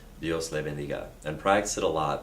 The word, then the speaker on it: Dios le bendiga: And stress is on the second to last syllable typically.